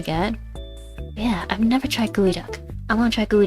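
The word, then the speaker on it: geoduck: Like it's spelled like geod duck, but you say gooey duck.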